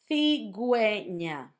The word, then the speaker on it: cigüeña: Pingüino, cigüeña. That's if you want for the U to have a sound when you have gegi.